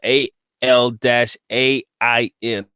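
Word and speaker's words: Al Ain: my dad was in allain I think that was spelled a l- a i n Alain is how they pronounce it but Alain whatever and me and my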